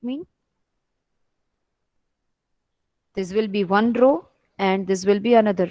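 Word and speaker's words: ρ: As you see here, the symbol, it can be pronounced as row.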